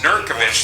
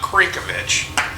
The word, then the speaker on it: Nurkovic: Don nurkic's last name it is nurkovic not cinkovich driving the 5c currently